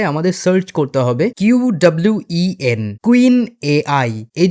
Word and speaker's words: Qwen: Search করতে হবে QWEN, কুইন এআই। এই যে বানানটা QUEN, কুইন না কিন্তু QWEN, কুইন এআই লিখে তোমরা সার্চ করবে।